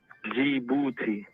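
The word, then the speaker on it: Djibouti: b o u t i guess how you pronounce it for the people who can't read on the show g booty say it one more time look booty something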